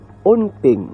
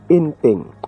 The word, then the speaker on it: Onteng: Kay uhaga ni ang pag-pronounce ang ngalan ni Onteng, hindi ya kay Enteng. Onteng.